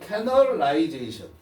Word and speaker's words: canalization: 얘가 콘레드라는 사람이 called this drastic narrowing of outcomes canalization. 오케이. 이게 뭐야? 이거 뭐라고 읽어? 커넬. 따라해봐. 커넬. 이건 canalization.